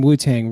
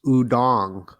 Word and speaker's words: Wu-Tang: book so I'm curious actually pronounced udong really oh I didn't know that udon that's what I heard yeah so like they call it Wu Tang but like it's actually udong interesting yeah well nice